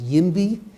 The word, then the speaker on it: YIMBY: It's not NIMBY, but it's YIMBY. Right. Yes, in my backyard.